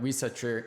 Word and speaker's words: Risacher: And I said the name wrong last time, but Risacher, I was watching some clips from him today.